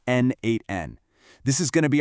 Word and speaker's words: n8n: The second piece of our puzzle is N8N and that's pronounced N8N.